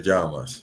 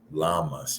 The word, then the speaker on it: llamas: In English, it will probably be you'll probably pronounce it like "Cómo te," like llamas or something like that. I don't know, but the double L is like ja.